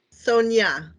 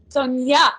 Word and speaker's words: Sonja: Is it pronounced Sonja? Sonia. Sonia.